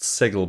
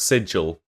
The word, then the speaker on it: sigil: and land a SLE have I been pronouncing it wrong that I've never never heard it pronounced sigle before I always thought it was pronounced sigil I mean maybe it's